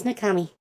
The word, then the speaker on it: Nakami: And am I pronouncing the so it's Nashi, and is it Nakami? Nakami, is that how I should pronounce it, or? Yes, my name is Nakami. Okay, I just want to make sure I was not butchering the pronunciation. No, you got it right.